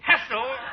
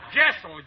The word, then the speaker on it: Jessel: Hessel? Jessel, J. J, as in what?